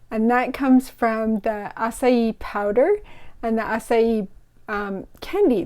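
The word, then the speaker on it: açaí: if you can see it's got that c with the squiggle that's called a cedilla and it makes it pronounce like a s so that's why you say acai but if you want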